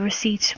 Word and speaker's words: receipt: we please have the receipt we asked politely to the waitress please spell correctly receipt a lot of students can find this word difficult receipts like a silent P and there's two E's